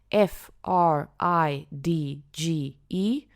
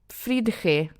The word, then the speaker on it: fridge: Now I know fridge when you look at the spelling f r i d g e parece fridge. No, decimos fridge, okay?